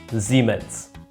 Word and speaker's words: Siemens: I'm not sure how to pronounce it in English, but that's how you pronounce it in German. Siemens.